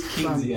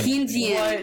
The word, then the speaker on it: Keynesian: Keynesian. Keynesian.